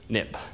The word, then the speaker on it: xib: xcode it became xib but you pronounce x i b nip so for historical reasons